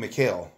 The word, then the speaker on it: McHale: Yeah, or something McHale.